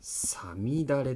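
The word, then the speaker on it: 五月雨: 五月の雨と書いた熟語が読めるでしょうか。これはさみだれと読みます。知らないと読めません。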